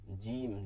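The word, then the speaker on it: جيم: কোন শব্দ আসে না এরপরে জিম এটা কিন্তু সহজ যাদের কাছে যা উচ্চারণটা বাংলায় হয় ঠিক মতন করতে পারি অন্তরজ যা জিম কোন শব্দ আসবে না ঠিক আছে শক্ত করে শব্দ আসবে না জিম জি জি এরকম কোন কিছু আসবে না।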